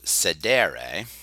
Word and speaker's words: sedere: but um but the verb sedere which is actually a long e I'm not going to bother with that right now Sedar just means to sit